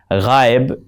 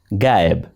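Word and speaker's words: غائب: Ghaib is pronounced as gaib, lost.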